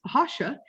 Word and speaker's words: Rocha: It originated in Portugal, so it would be pronounced Rocha in Portuguese.